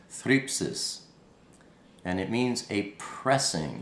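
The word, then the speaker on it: θλῖψις: It's pronounced thripsis, and it means a pressing.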